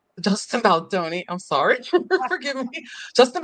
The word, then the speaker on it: Baldoni: Because we're getting into the whole Justin Baldini, Justin Baldoni, I'm sorry, forgive me, Justin Baldoni and Girl, he Blake deserves to have Lively, his name the feud, mispronounced.